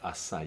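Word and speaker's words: açaí: that is flavored with acai. Acai, right. It's spelled ACAI, and the Portuguese and the Latin Americans pronounce the I as E, acai, right?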